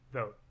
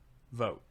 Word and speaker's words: Vogt: my last name vhs how do you say your last name vote vote yeah where is it from